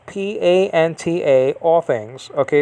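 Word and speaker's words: πάντα: uh greek over here the greek over here ponta p-a-n-t-a all things okay it's in the neuter uh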